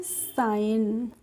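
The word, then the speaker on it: sign: हैं इनमें क्या है जी साइलेंट है तो एसई जी है तो एसई जी एन को हम सिगन नहीं पढ़ते हैं क्या पढ़ते हैं इसको हम पढ़ते हैं साइन और साइन की हिंदी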